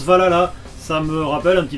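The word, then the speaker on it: VA-11 Hall-A: Alors oui, ça s'écrit comme ça, mais ça se prononce Valhalla.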